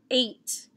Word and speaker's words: eight: three four five letters eight is spelled e i g h and t this is a very unfair part of the word i hear that in